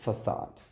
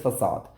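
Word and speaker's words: façade: ठीक, तो इसको जो बहुत से लोग हैं वो इसको फेकेट करते हुए मिल जाएंगे, लेकिन वो एक रॉन्ग प्रोनाउंसिएशन में आ जाता है। खासकर ब्रिटिश में इसको काफ़ी लोग फेकेट करके बोलते हैं, लेकिन इसकी जो एक्चुअल प्रोनाउंसिएशन है, जो मैं आपको सजेस्ट करूँगा, दैट इज़ फसाद। ठीक, जैसे आप कोई हिंदी में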